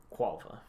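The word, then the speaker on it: Quolva: DM how the do you spell that q u o l v a quava you what you oh u-o-l-v-a okay is this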